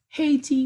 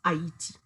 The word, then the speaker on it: Haiti: Many of you usually pronounce Haiti as Haiti, which is not proper. The correct way to pronounce the name of my country is Haiti. It's an Arawak word.